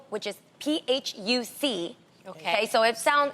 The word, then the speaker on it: Phuc: So C at the end of Vietnamese words is P.